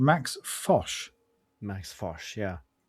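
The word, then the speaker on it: Fosh: Max Foch.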